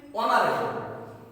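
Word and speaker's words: honourable: কিন্তু অনারেবল বলছি না, কি বলছি? অনারেবল। এইচ আছে কিন্তু আর উচ্চারণটা নেই, তাহলে কি হবে?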